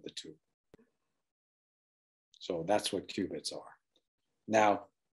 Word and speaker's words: qubit: So photons and their polarizations are the archetypal qubit, pronounced Q-bit, meaning quantum bit.